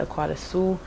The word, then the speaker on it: Akuadasuo: impress my dad's family, she'll like say every letter and she'll like pronounce it Akuadasuo. And then because she's trying to replicate my dad who pronounces it Akuadasuo, which is how you're supposed to say it, but I don't really like the way it sounds, so I just like going by Akuadasuo and then kind of